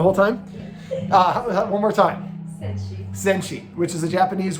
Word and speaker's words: Senshi: This is Sochi. Yeah. Senshi. Yeah. Am I saying it wrong the whole time? One more time. Senshi.